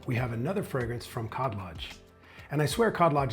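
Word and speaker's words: Khadlaj: Next up, we have another fragrance from Cod Lodge. And I swear Cod Lodge is not sponsoring this video. If they were, I'd probably be pronouncing cod lodge the Arabic way by swallowing the K.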